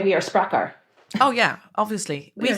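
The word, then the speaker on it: Sprakkar: It is currently on pre-order, and it is called Secrets of the Sprakar by Eliza Reid.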